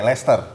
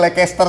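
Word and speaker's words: Leicester: UK nah oke Lester tapi biasa orang di sini tuh enggak ada yang bisa baca tuh namanya Lester biasanya orang bacanya lagi Caster Nah itu ada tuh klub bolanya tuh ngomongnya lecester City gitu ya jadi gitu Jadi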